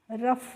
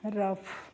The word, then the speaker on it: rough: तो ROUGH को हम रफ पढ़ते हैं, क्या पढ़ते हैं, रफ।